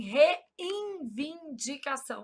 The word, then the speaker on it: reivindicação: Só para eu gravar que não existe N aqui. Qual que é o problema? A gente nasaliza esse N na pronúncia. A gente fala assim, reivindicação. Aí a gente sai colocando um monte de N onde não há.